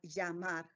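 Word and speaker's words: llamar: a gesture Libra and we will have yamar yamar for the two syllables for the Double L Sound in the verb to call um we practice those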